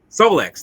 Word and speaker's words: Solex: How you pronounce it? The Rolex or Kotex or Solex. Solex?